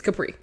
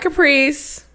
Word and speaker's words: Kapri: It's Kapri. Period. Like, the fuck, say it all. It's 2 syllables. It's like, don't be lazy. Kapri. Don't be lazy. That's KP. it. No, it's Kapri. And it's not Caprice.